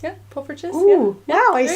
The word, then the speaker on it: poffertjes: They're called poffertjes. Yeah, poffertjes.